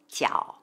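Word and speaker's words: 角: tatsola when it means angle or corner it's pronounced jiao for example which literally means three angle shape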